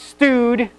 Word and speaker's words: stud: there you go and that's pronounced stood not stud I just had to make